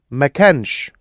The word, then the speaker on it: ما كانش: The other thing to be careful of when you put the sh on the end is the pronunciation changes slightly, and the can, the air comes a little shorter. Listen to Mahmoud saying he was, he wasn't. كان ما كانش. See how it's shortened a bit?